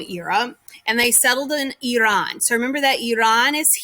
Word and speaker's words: Iran: correct way is actually iran like an e instead of an i is the correct way to say it i'm not going to